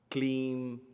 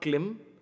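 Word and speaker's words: क्लीं: call it letter i'm clean so it's not klim it's clean there is a dash on top of eye so it is clean don't say klim here sounds are very important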